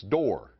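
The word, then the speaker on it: Dorr: Rhymes with war and roar, it's Door.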